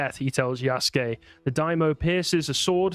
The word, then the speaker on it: Yasuke: if you couldn't tell it's yasuke yasuke I've heard it pronounced Yas really yeah maybe maybe I'm wrong who knows probably yeah it's it's common for them to drop the u sound in the Sue uh